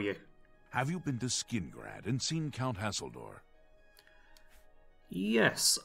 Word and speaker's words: Skingrad: Alright, and why was I actually sent to Skingrad? That's how you actually pronounce it for anyone wondering.